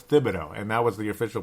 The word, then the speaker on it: Thibodeau: I can't believe I'm calling him Tibido it's Tibido and that was the official pronunciation I heard that on Dan barrero yesterday